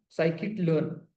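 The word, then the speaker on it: scikit-learn: उसके बाद आता है साइकिट लर्न। स्पेलिंग बता देता हूं। एस सी आई के आई T. Psychic kit. Okay? हम इसमें शॉर्ट में उसमें एस किट भी कहते हैं।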